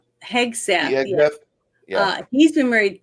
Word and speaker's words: Hegseth: Hegseth. Hegseth.